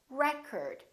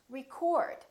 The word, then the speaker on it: record: another word this word if it's a noun it's pronounced as record the first syllable is stressed recurred this o changes